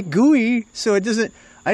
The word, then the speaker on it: GUI: people's Segways do we I say gooey all the time yeah a graphic user interface people have been saying gooey since the 70s so I say potato